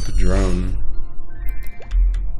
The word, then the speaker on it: Padrone: Actually, my name is Padrone. Kind of rhymes with Patron, but not Patron.